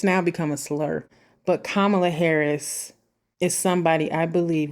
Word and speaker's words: Kamala: know that if you choose to vote for kamla Harris I said Kamala on purpose people mispronounce her name it's now become a slur but kamla Harris is somebody I believe will be a